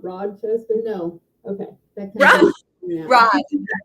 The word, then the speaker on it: Rochester: You said it right, Rochester. I put a D in it. Okay. All right, that's right. Okay. That's that country accent. Does it have a D in it or no? No.